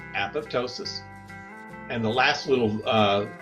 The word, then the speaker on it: apoptosis: our apoptosis remember program cell death and it's pronounced apoptosis and the last little uh seven minute video